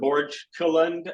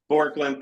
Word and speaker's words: Borkland: They got another shooter, Parker Borgkeland, I believe. I'm pronouncing that wrong, I'm sure. Another good shooter. Yep. Borkland, thank you.